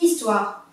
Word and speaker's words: histoire: histoire d'hommes et galeries h ne se dit pas qu'on dit directement une histoire une histoire c'est une